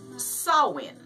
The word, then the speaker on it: Samhain: and they called it Samhain but that's actually pronounced saawan SI m haan is pronounced salad that's weird